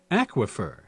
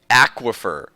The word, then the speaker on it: aquifer: available a Google's not giving me the answer aquifer aquifer aquifer thanks Google okay every time I want to